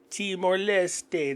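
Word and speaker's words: Leste: and teste increasing the organization's membership to 166 teste that's how you actually pronounce it so the weird thing is that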